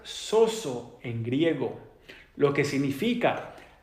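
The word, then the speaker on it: σώζω: usa 110 veces en la Biblia y se pronuncia soso en griego lo que significa para salvar mantener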